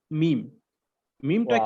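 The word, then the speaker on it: ميم: উচ্চারণ করব বা বা আর আমি যখন মিম উচ্চারণ করব তখন বা যেখান থেকে উচ্চারণ করেছিলাম যে একদম নরমাল যে দুই ঠোঁটের ভিজা জায়গা থেকে আমরা উচ্চারণ করেছিলাম বা, কিন্তু যখন আমরা মিম উচ্চারণ করব তখন চেষ্টা করব যে ঠোঁটের যে শুকনো অংশটা আছে সেখান থেকে উচ্চারণ করার জন্য।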